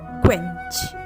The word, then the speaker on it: quench: इसे हम प्रोनाउंसिएशन करते हैं क्वेंच, यानी कि पढ़ते हैं क्वेंच।